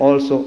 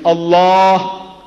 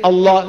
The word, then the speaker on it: Allah: you to try to pronounce as you ought to pronounce a l a h is Allah not Al say say Allah all of you say